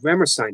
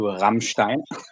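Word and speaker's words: Rammstein: Um, are you a uh Rammerstein fan? I don't really listen to Ramstein. That's how they're actually pronounced.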